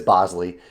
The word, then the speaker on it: Bosley: pronouncing your name correctly I know I messed that up in the past and said Bosley but I believe it is Bosley Bosley is the